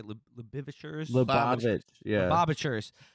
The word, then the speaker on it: Lubavitch: Lubavitch, yeah.